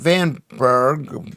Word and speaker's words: Vanbrugh: Vanbrugh, says Carrie, is pronounced Vanburg, whatever is pronounced Vanbrugh Castle.